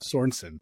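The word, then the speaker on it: Sornsin: So, there's no there's no E in there. Like Swedish. It's not Swedish. All right. Sornson.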